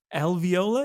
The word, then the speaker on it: Alveole: Alveole, it's a I think Latin word, but in Alveole. English you say alveole, and we also pronounce it the English way, alveole. Yeah, because in Okay. Germany some people say alveole. That's the way how you pronounce it in German, alveole. But Okay. we call ourselves alveole.